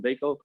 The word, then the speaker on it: Bacot: Bacot.